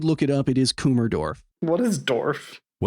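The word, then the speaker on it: Kummersdorf: It is Kumerdorf.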